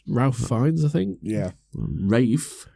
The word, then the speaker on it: Ralph: The only reason I know it's pronounced Rafe is because Amy adores him.